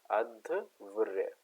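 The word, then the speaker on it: अध्वर्यु: हूं इसे हम अद्य अध व्य कहते हैं ठीक है अव्य कहलाता है ठीक है उच्चारण ध्यान रखेंगे यह है अधव ठीक है अध व्य ठीक है तो यजुर्वेद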